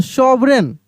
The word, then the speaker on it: sovereign: SOVEREIGN, सॉवरेन, सॉवरेन। जी का उच्चारण यहाँ पे नहीं होगा, ठीक ना।